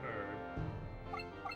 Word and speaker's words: herb: You got a light sword, leather helm, leather vest, and herb. H is silent.